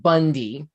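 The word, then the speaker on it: Bounde: the issue is that our last name is spelled b-o-u-n-d-e pronounced bundy man i asked my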